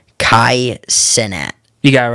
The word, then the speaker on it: Kai Cenat: I'm going to pronounce this wrong. Kai Cenat.